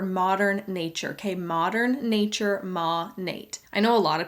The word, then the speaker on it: Monat: but it's bothering me that they can't say monet right mon8 is short for modern nature okay modern nature ma nate i know a lot of people pronounce this